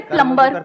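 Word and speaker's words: plumber: सर जैसे प्लम्बर, सब लोग प्लम्बर प्लम्बर बोलते हैं हमारे देश में, बढ़िया है यार, क्या दिक्कत है? बी साइलेंट है उसमें। प्लम्बर ही तो होता है।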